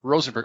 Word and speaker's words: Rosenberg: You'll say, yes, Rosenberg. Yes, did I say it properly? Absolutely. You say, yes, Rosenberg.